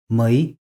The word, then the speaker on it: ми: Mui, Bi.